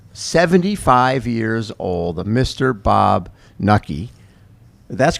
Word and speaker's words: Knuckey: Bob Knuckey. That's correct, right? The K is silent. The K is silent. And it sounds like lucky.